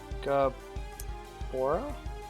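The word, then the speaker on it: Gaebora: That's how you spell it, right? Look up. Gabora?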